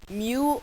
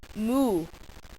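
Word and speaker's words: μ: the symbol for micro this is Mew it's pronounced Mew or Moo can I've heard it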